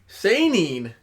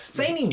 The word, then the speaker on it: seinen: Seinen. Yes. Seinen. He messed up. Seinen. That's Seinen. Makes you want to say it like that.